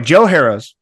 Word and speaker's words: Joe Harroz: Anyway, Joe Harroz.